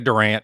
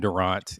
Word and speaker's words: Durant: s s Durant Enterprises a lot of people say Durant but I pronounce my name Durant it's just like the basketball player so that's my that's